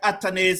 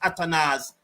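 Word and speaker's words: Athanaze: I was there and saying that atanes is atanes somebody came and tell me that it pronounced atanas and when atanes was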